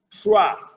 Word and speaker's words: trois: Where you have OI, it's pronounced as OA. OI, OA. Example, par exemple, avec le mot trois, with the word three in French. Trois.